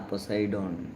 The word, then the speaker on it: Poseidon: Um it is um C30 super Hercules or P81 Poseidon. Actually the pronunciation has to be uh Poseidon.